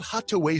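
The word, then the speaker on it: Hatuey: It's called Hattaway Cigars. It's that little red place right there at 16th and V Streets. It's spelled Hattuey.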